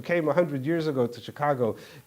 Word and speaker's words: Chicago: years ago to Chicago, to them it sounded like Chicago, so they spelled it that way. When Americans started, who spoke English, started writing the Gittin, they realized that that's not the way you pronounce it. It's Chicago.